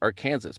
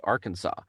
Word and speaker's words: Arkansas: actually say arkansas which the way it's spelt you would think are kansas but it's arkansas um and so there's